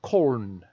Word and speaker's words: Köln: It's from Cologne, or Köln. K-O-L-N is how the Germans spell it.